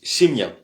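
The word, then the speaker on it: семья: Euh voilà et la famille se dit simia simia simia. On voit le miakiznak qui est le signe de de d'adoucir le le la consonne.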